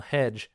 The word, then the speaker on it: hecg: And the letters CG put together sound like J, as in hedge. So you would spell hedge in this world as HECG, and that's how you would pronounce that.